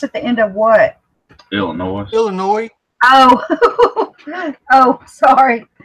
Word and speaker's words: Illinois: my wife is from Illinois by birth and she gets mad with people pronounces the S at the end the S at the end of what Illinois Illinois Oh oh sorry